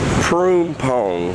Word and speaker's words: Phrom: Yeah, so now I'm almost to Phrom is how you pronounce that.